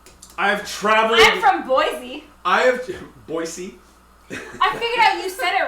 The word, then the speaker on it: Boise: pronoun no it's po you were saying poisy and I said Boise it was the first syllable boy C no we were